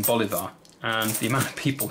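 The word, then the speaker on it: bolívar: one fundamental thing wrong I pronounced the currency uh Bolivia rather than Bolivar and the amount of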